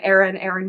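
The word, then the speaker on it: Aren: main characters, Laura and Aaron being the king of Ithaca. At least that's how I said his name. It's spelled A-R-E-N. So I said Aaron, but who knows?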